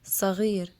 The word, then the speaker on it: صغير: sin, which is like a regular S sound in English, but there is also sod, which is an emphatic S, as in the word صغير.